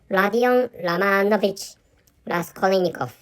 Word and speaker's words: Rodion Romanovich Raskolnikov: is wrong, but actually, so the correct pronunciation of the main character or the main protagonist of Prestuplenije i Nakazanie or Crime and Punishment is Rodion Romanovich Raskolnikov. Or anyway, so Rodion Romanovich Raskolnikov is which I think